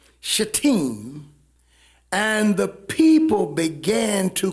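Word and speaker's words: Shittim: numbers 25 and israel abode in it's actually pronounced shatim shateem and the people began to commit whoredoms with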